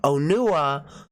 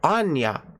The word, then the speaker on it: Onua: the movie and you could hear them clearly pronounce it onua but my friend would call it Anya Anya yeah so you have no problem we